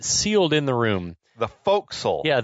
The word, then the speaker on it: forecastle: The forecastle. Yeah, the spelled forecastle, pronounced forecastle. Forecastle. So that's in the British English tradition of pronouncing words with more letters like they have far fewer letters than they have.